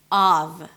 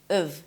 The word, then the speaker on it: of: relax your lips, and then the f is a v sound, always a v, of. However, when it's reduced, it's pronounced as of.